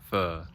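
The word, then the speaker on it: phở: That's how they pronounce it. I've been training. It's pho.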